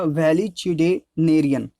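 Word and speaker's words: valetudinarian: ठीक है, इसका जो प्रोनाउंसिएशन होगा वो होगा वैलिचिडेनेरियन।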